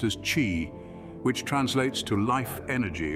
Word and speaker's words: qi: Central to this ancient practice is the concept of qi, pronounced as qi, which translates to life energy or vital energy.